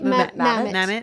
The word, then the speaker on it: Mamet: Mamet.